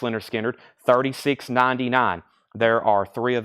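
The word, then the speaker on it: Lynyrd Skynyrd: for Leonard Skinner's debut album here this is pronounced Leonard skinnard $ 36.99 Leonard skinnard it is uh their debut album and I'm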